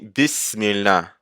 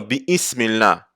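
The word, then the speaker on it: بسم الله: So, on ne va pas dire bi-ismillah. on dit Bismillah, parce que le bi est en train de venir avant la hamd al-wasl, et la hamd al-wasl ne va pas être prononcée si quelque chose le précède, donc ça va être Bismillah et pas Bi-Ismillah.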